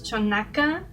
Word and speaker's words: Xonaca: I'm not sure if it's pronounced this way, but I think it's Chonaca, and I think it's in Puebla.